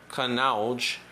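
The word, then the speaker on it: Kannauj: his scooter ferrying the sweet-smelling load inland to canal a small city known as the perfume capital of india for centuries kanaj produced are pronounced canalej in north northeast india's ganja's belt has been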